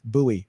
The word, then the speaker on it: Bowie: area they'll say in bowie virginia or bowie virginia it's like no no it's buoy buoy you know it's just